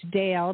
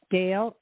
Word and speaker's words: Dayle: and uh i have a website which is dale d a y l e dale dot com wonderful okay thank you